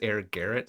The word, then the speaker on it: Air Gallet: I don't think it's necessarily French, but that's what the voiceover thing pronounces it as, Air Garret, so whatever.